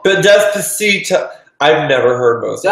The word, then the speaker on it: Despacito: Despacio. Despacio. The song with Justin Bieber. Oh, the song that Sarah Paulson was trying to run away from in that meme. Despacito. But Despacito.